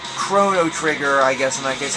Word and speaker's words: Chrono Trigger: at least the NES still has games like chono trigger right chono trigger oh does the pronunciation matter yes this isn't like the cathering